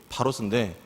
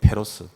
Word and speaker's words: Pharos: 어, 근데 보통 우리가 페로스라고 읽습니다. 어, 명칭 이름은 파로스입니다. 파로스. 그 섬 섬 이름입니다. 섬 이름이 파로스인데 이걸 이제 영어로 넘어오면서 발음이 페로스로 바뀝니다. 페로스 그죠?